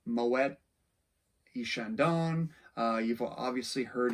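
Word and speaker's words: Moët: But since it is the name of a Dutch trader, and in that language, they would actually pronounce the T, Moet, that's sort of become the standard pronunciation for that wine today.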